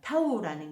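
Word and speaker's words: תו: 이렇게 얘기를 했는데 이제 타우라는 게 표시 이게 이제 인친 거죠. 인친자. 에스겔서 9장 타우가 아니고 이게 이제 타우라고 읽기도 하고 타브라고도 읽습니다. 타우 타브 다 이렇게 읽습니다.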